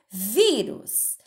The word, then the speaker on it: vírus: Olha lá, vírus. Qual é a sílaba forte? Ela é a antepenúltima, certo? Ou ela é a penúltima?